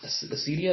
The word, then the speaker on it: acedia: Okay, so now we get into leisure, idleness, and acedia, or sloth. Acedia.